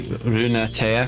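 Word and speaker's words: Lunatea: says lunati it's probably runa tea because that's how you'd pronounce it in japanese and that's sort of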